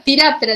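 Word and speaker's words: Phthiraptera: Se pronuncia Tiráptera directamente, la T es la única que se pronuncia en todo esto, y significa piojo, y áptera significa sin alas, ¿sí?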